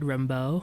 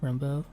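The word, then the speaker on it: Rambaud: Maybe Fred Rembo or Remodude. That's how I say his name. Fred Rambo. Fred. R A M B A U D.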